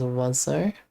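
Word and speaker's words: oiseau: It's like Oiso is pronounced as Wazo.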